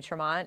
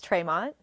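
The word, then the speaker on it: Tre'Mont: honestly they just called they just started calling me tront and I never wanted to correct them really yeah wow so the right way to say it is traymont but he's okay with traymont I like traymont better actually yeah I think that's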